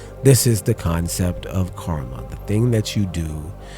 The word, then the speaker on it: karma: It's not karama, it's karma.